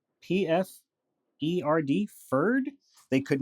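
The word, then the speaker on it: Pferd: They even tried to learn German from us, in spite of the great difficulty they found in pronouncing some of the words. The word ferd, P-F-E-R-D, ferd, they could not say at all.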